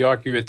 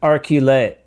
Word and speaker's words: Arcuate: And it's pronounced Arcuate. Arcuate. Well, the Arcuate. easiest way to pronounce it is if you take the letter R and the letter Q and add the number 8, that'll give you a good idea how to pronounce it.